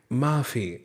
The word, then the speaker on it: माफ़ी: फिर बोलिए माफ़ी। अब यहाँ पे हम फ नहीं पढ़ेंगे क्योंकि फ के नीचे बिंदी लगी है, नुक्ता लगा है, तो इसे बोलेंगे फ, माफ़ी।